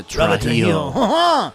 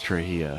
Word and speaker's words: Trujillo: Yeah, Trujillo. He's not French. It's nothing against those guys. They're great players, but we want this. I'm pretty sure it's not Trujillo. It's Trujillo.